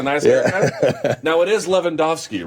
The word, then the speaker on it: Lewandowski: Martin Lewandowski is here, and I'm pretty sure that's how you pronounce it, because Robert Lewandowski plays for Bayern, and that's how you pronounce his name.